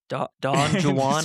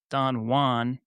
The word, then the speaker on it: Don Juan: Typically pronounced two different ways depending on the context and language. Spanish pronunciation. Don Juan. In this case, the J is pronounced like an H ancient English English pronunciation.